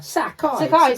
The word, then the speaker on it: Sacai: And it's not hard to pronounce. Sacai. I know, but it's one of those ones I look at. Sacai.